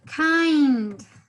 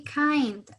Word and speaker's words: kind: Don't forget the pronunciation of this word. Kind. Si bien es cierto, tenemos ahí una I escrita, en inglés al momento de pronunciarla, ustedes van a tener el sonido de AI, ¿no? Kind, kind.